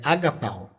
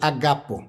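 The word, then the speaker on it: ἀγαπάω: O verbo no grego para Deus amou aqui é agapau ou agapo. Essas duas pronúncias valem. Uma clássica, uma moderna. Enquanto verbo é agapau ou agapô. E enquanto substantivo é agape, que é o amor.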